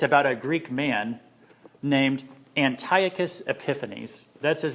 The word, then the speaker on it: Antiochus Epiphanes: This time it's about a Greek man named Antiochus Epiphanes. That's his name right there. I know you want to call it Antiochus Epiphanes. That's what it looks like. It's actually pronounced Antiochus Epiphanes. Try saying that.